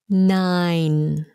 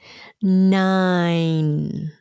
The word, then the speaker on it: nine: n at the end nine nine same sound as the word fine how are you i'm